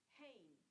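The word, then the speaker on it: ἦν: Now that third word begins with an Ada, but it's got a rough breather, so you would pronounce that with the H. Hain.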